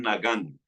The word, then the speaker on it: nagán: Um, Quiero hablar con ustedes, mis hermanos, acerca de lo que es un nagán y voy a explicarles un poco lo que es un nagán conforme vaya desarrollando la enseñanza.